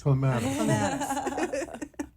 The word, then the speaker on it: Clematis: And it's this beautiful restaurant called Palm Sugar in West Palm Beach on, I can never say it right, Clematis? Clematis.